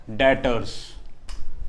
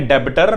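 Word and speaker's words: debtors: डेटर्स, ठीक है, इसमें बी जो है वो साइलेंट रहेगा, इसको हम लिखेंगे डेबिटर बट होता है डेटर्स। तो कभी भी किसी के सामने डेबिटर मत बोलना, डेटर्स ही होता है।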